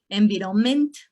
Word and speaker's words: environment: Next, environment. They struggle a lot with stress, right? Na, na, na, na. Environment. Check this. Environment. So when you are teaching